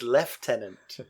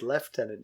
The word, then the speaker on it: lieutenant: funny that word is left tenant so so you say it just English is difficult some words just are not pronounced the way they look it's left tenant general you know where